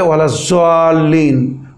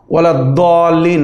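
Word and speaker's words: ولا الضالين: যাল্লিনও না, দাল্লিনও না, পরিষ্কার বলছি। কিছু লোক বলে ওয়ালাজ-যাল্লিন, তো যাল্লিনও না ওয়ালাদ-দাল্লিন মানে দালও না, ওটা হচ্ছে দাদ, ওয়ালাদ-দাল্লিন।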